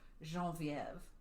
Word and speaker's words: Genevieve: So in October of this year, Prentice wrote to his sister Genevieve, unless you like the French pronunciation, which is Geneviève, which I think is prettier than Genevieve, but what do I know?